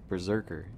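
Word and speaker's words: berserkr: With that being said, the word berserker in Old Norse is written as B-E-R-S-E-R-K-R, pronounced Berserker, meaning bearskin or bear coat.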